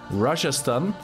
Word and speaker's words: Rajasthan: Rajasthan, do I pronounce that correctly?